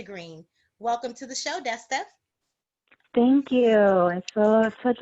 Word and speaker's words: Desta: from guests dusty green welcome to the show desta thank you and for such a pleasure absolutely ask you am i pronouncing your name right yes ma'am okay if